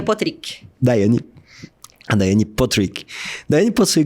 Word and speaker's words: Potrich: Certinho é Potrich.